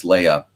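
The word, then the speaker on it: Leah: lucky to work with leia nobler uh leia's first name is spelled l-e-a-h but pronounced like the princess um if leia is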